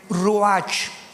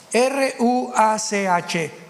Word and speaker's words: ruach: Biblia la palabra espíritu que es la palabra se escribe ruach r u a c h ruach qu es la palabra espíritu vemos Nosotros